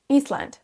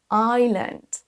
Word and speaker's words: island: Iceland. Attention, ici, le S va être silencieux et ce mot se prononce island.